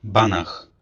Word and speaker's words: Banach: Stefan Banak.